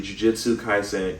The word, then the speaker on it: Jujutsu Kaisen: But, and I mispronounced the name earlier. It's actually Jujutsu Kaisen Cursed Clash.